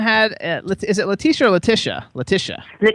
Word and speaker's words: Leticia: So, first of all, Leticia had Is it Leticia or Leticia? Leticia. Leticia. Leticia. That's mine. The tea is silent.